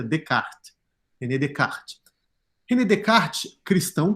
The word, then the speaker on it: Descartes: O primeiro cara que desenvolveu, assim, de modo mais rigoroso, a ideia de lei natural foi René Descartes, que não pronuncia Descartes, tá, gente? Pronuncia Descartes.